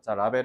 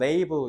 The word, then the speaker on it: label: "Rabel" 은 콩글리시 발음 입니다 . 미국식 영어 발음 은 "label" 입니다 .